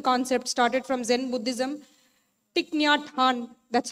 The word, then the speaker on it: Thich Nhat Hanh: Thich Nhat Hanh, that's how he's pronounced.